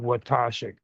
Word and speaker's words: Watoshik: you say his name, you rhyme it with Akashic, and you just add a W. Watoshik.